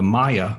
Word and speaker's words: Maya: quite uh or the the maya people say it correctly maya not mayan but maya and that live in the